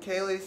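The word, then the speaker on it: Ceilidh: half year old dog celia c-e-i-l-i-d-h oh pronounced kaylee thank you yeah looks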